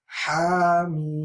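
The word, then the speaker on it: حم: So this is Ha and the Mim is long. So we have Hamim. Hamim.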